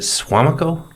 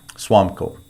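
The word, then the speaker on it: Suamico: Is it Swamico? Swamco. Okay.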